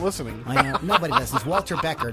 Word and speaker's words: Walter Becker: I know nobody listens Walter Becker that's I said right I didn't say Walter Breer Walter kronite Walter kite